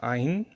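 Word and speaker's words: עין: So for example, if I pronounce it like I just did, Ayin, there's just of the vowel yin, Ayin. But in reality, Ayin is a consonant that can hold a vowel.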